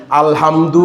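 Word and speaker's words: الحمد: ভালো করে বুঝে নেন আলহামদু বলতে আলহামদু একটা আছে ছোট হা গোল আরেকটা আছে বরহা আলহামদু।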